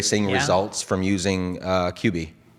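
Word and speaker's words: Cubii: okay now kubi louise how you say it it's cuba qb c-u-b-i-i got it uh so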